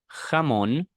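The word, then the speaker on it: jamón: we also have the letter J which is similar to H in English Okay so this is this is going to be read as hamon all right then H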